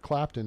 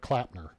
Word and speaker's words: Clapton: with something about Eric Clapton and she calls him Eric clapner I like that Eric clapner fella she said his name wrong like three times Eric clapner hilarious um